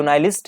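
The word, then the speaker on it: nihilist: Sorry निहिलिस्ट नहीं है, इसको हम लोग प्रोनाउंसिएशन में क्या कहते हैं, नाइलिस्ट भी कहते हैं, नाइलिस्ट कहते हैं।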